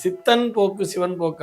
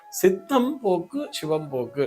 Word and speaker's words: சித்தம் போக்கு, சிவம் போக்கு: நெறைய பேர் இத வந்து எப்படி சொல்லுவாங்கன்னா, சித்தன் போக்கு, சிவன் போக்குங்கிற மாரி சொல்லுவா. அது சித்தன் போக்கு, சிவன் போக்கு அல்ல. சித்தம் போக்கு, சிவம் போக்கு.